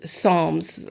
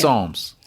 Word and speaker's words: Psalms: P at the beginning pronouncing the P at the beginning or not a lot of people